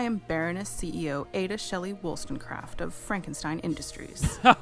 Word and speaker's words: Wollstonecraft: Make sure to pronounce my entire title. Sorry. Baroness Shelley Wolfenstein? Wollstonecraft.